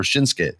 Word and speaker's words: Shinsuke: know I hope like shinsuke came in I hope or shinsuke sorry for the extra syllable there when they don't have